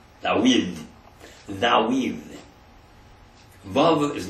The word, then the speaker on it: David: David is Dawid. Dawid.